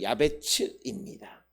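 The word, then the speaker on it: יַעְבֵּץ: 원래 야베스는 원음 발음대로 야베츠입니다. 그리고 그 의미는 슬픔이라고 하는 그런 의미를 가지고 있습니다.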